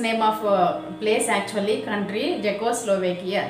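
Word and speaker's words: Czechoslovakia: దీనిలో చూడండి, ఆ వర్డ్ అనేది ఫస్ట్ సితో బిగిన్ అయింది, బట్ వీఆర్ బిగినింగ్ అంటే we are starting hour pronunciation with the letter Z. జా సౌండ్తో పలుకుతున్నాం, సి పలకలేదు. అంటే సి అనేది జెడ్కి ముందు ఉంది. మన రూల్ ప్రకారం letter జెడ్కి ముందుంటే we should not pronounce C.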